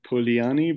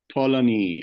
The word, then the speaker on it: Polanyi: Michael, so you know, I used to pronounce it as Polanyi, but yesterday I was like, oh, it's not Polanyi, it's Polanyi. I think it's Polanyi.